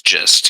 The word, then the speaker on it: gist: supposed to be pronounced it's gist yes yeah it's epitome yeah I was going around saying Gest for like 28 years of my life well you know what